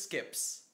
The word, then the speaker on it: SCiP: Oh, someone on the site says skips. So, I really want to get a burp in there now that we know it's supposed to be a Morty voice. It's spelled SCIP, but it said SKIP.